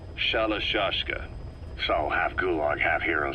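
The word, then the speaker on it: Shalashaska: By the time I got to hearing about it, pronunciation had wound up as Shalashka.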